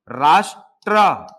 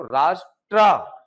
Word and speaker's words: राष्ट्र: देखो, राष्ट्र उच्चारण आप करेंगे तो ट आधा है और र पूरा है। ऐसा है। ट आधा है और र पूरा है। उच्चारण करो। राष्ट्र ट आधा र पूरा।